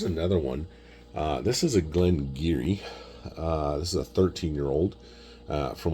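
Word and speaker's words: Glen Garioch: Looks like Glen Garryosh, but it's pronounced Glen Geary.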